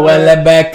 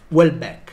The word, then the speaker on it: Houellebecq: non lo pronuncia circa well and back e li tolgo il pensiero che dice di solito dico well and back poi non so come si pronuncia comunque quindi si pronuncia welbeck ok che durante uno